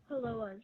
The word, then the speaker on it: Hāloa: It's pronounced Hāloa's, right?